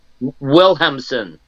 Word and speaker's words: Wilhelmsen: Wilhelmsen.